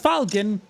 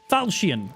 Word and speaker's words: Falchion: Not called Falcon, Falchion. I'm pretty sure that's actually how it's pronounced.